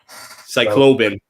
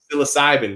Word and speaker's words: psilocybin: Great Baptist says Cycloban. Yes, I hate saying that. I don't know. I probably didn't even say it right. How you say it? How you say it, Rinth? psilocybin.